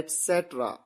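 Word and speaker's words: etc.: इसे कई बार आप गलत तरीके से प्रोनाउंस करते हैं, यह है etc, आदि या इत्यादि।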